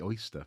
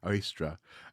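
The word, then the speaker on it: Ostara: holiday of worshiping oy I always say oyster for some reason oystra uh oyster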